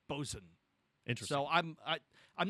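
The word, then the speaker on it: boatswain: can have a a boat Swain but it's pronounced bosen interesting so I'm I I'm not entirely sure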